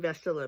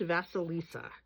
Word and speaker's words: Vasilisa: it wrong this morning I was saying vasilla but there's more syllables than that I think it's vasalissa the beautiful it's a